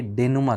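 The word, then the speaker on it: dénouement: ये डेनोमेंट आपको लग रहा होगा, लेकिन सही करेक्ट जो प्रोनाउंसिएशन है वो डेनुमा है, याद रखिएगा।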